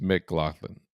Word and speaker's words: McLaughlin: You did the C. Hard C. Yeah, I think it's a hard C. I think it's McLaughlin and not Mac.